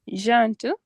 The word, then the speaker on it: gentil: Tu es gentil. gentil. Gentil. Gentil. Gentil. Like it is two how do you call two syllable?